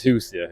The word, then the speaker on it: Hoosier: am I right when I've been calling these Hoosier is that how you say it oh yeah